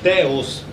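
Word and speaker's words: θεός: um pouco de teologia os teólogos italianos Eles sabem que essa palavra aqui em grego se pronuncia teos Mas ele não fala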